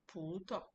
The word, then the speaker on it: pu tao: You can see the way I pronounced it pu tao. The pu is stretched because there is a tone. The tao is short because the tao doesn't have the tone.